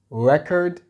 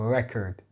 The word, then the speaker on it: record: So this word could be pronounced in two ways, right? We have record, which means a document or account, and this is used as a noun. So it is like a documentation of something, a record. This is how it's pronounced, a record, right? However, it can also be pronounced as record if we are using it as a verb to actually document it.